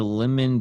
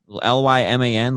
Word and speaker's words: Lyman: the custody of dr lemon beecher cousin of lincoln's widow apparently did you say his name was lemon l-y-m-a-n lyman lemon lymon so uh yeah it's